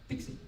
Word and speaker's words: PKCE: the authorization code with pkce and pikachu usually pronounced dixie all right and here's how it works so